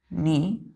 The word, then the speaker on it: knee: के यहाँ नहीं पढ़ते हैं हम लोग, KNEE नहीं, NE पढ़ते हैं, नी।